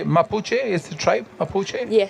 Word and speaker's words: Mapuche: Mapuche.